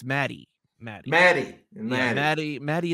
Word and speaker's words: Maddie: know there so I was pronouncing I was pronouncing it wrong anyways it wasn't Maggie it's Maddie Maddie Maddie MD MADD Maddie and L yeah